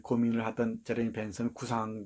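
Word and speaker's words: Bentham: 여러분, 벤담이라고 배웠지? 제레미 벤담이라고 배웠는지, 벤섬 이렇게 발음하지?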